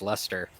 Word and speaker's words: Leicester: in club Valley anyway it's spelled Leicester but it's pronounced luster I mean we have